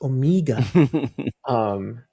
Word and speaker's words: Omega: and she's always going around like, "Daddy, you're saying it wrong. It's not Omega, it's Omega." And I caught her the other day.